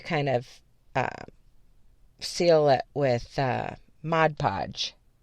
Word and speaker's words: Mod Podge: of seal it with Mod Podge. I think everybody pronounces it Mod Podge, but the editor in me is wanting to say like Mod Podge because the first word is spelled M-O-D, but I digress.